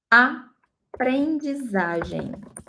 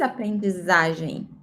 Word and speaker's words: aprendizagem: In Portuguese, aprendizagem. In Spanish, imagen. In Portuguese, imagem. Pay attention to the pronunciation, okay? In Spanish, G and J sounds like G, right? And in Portuguese, we say J.